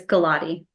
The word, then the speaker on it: Gulati: wrong could you please tell us the correct pronunciation of your last name yes last name is Gatti thank you because I was I was gonna definitely get that g wrong yeah galotti and she is an attorney she was a